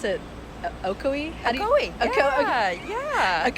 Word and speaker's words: Ocoee: Savannah so you moved here from do I pronounce it okoi aoi yeah aoi Florida um for SC in 2012 around then